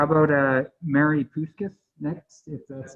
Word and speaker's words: Puskas: My name's Mary Puskas, and I've lived in the community for over